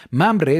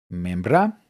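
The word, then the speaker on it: ממרא: Las dos se escriben igual y se pueden pronunciar como memra o mamre.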